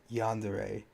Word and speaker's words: yandere: From what I've come to understand, it's pronounced yandere.